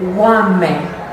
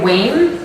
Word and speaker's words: Wame: You pronounce it Wame. Wame. Some people say Wayne, because that's what it reads like, but Wame is a drum chant.